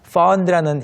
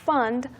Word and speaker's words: fond: Fond라는 이 단어를 발음하실 때 fun처럼 듣지 않도록 주의해 주세요. Right, not fund, fond. 네. Fond. 게다가 fond memories 할 때 D 발음이 안 들리니까 그냥 Right. fun memories처럼 들릴 수 있어요.